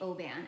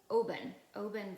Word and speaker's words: Oben: I think it's pronounced Oben. I think I've been saying Oban, and it's Oben vest.